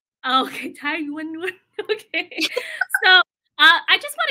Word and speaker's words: Thái Doanh Doanh: Thái Doanh Doanh. Okay, Thái Doanh Doanh.